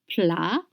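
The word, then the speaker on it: plats: D'abord, first, you have to know that plat, P-L-A-T-S, plat in French means dishes or main dish. The spelling is P-L-A-T-S and the pronunciation is plat. You don't pronounce consonants at the end of French words.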